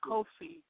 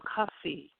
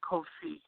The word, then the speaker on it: Kofi: copy or cookie fake it's kofi but they called him coffee instead of kofi which i don't know how would you have problems pronouncing kofi uh his father was